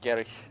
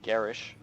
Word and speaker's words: Gerich: Apparently, when I saw this name, my mind immediately thought German, and you saw it in Gerich as well, instead of Gerish.